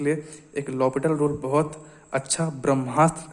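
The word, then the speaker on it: L'Hôpital: तो यार ये एल हॉपिटल रूल है क्या, जिसको हम लॉपिटल रूल भी कहते हैं, तो एल साइलेंट रहता है यहाँ पे।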